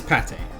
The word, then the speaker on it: Pate: light so it is pate you do pronounce it Pate like the food just without the accent trouble I return to